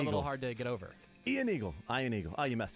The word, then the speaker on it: Ian Eagle: of my one nitpick maybe it's because it's Ian Eagle instead of Iron Eagle yeah Ian Eagle could